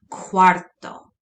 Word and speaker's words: cuarto: or near it that it's going to make a kwa noise quarto quarto we've seen this before